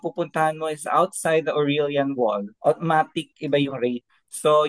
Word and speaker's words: Aurelian: You have to know kung nasan ka sa aurelian wall How do you say that aurel wall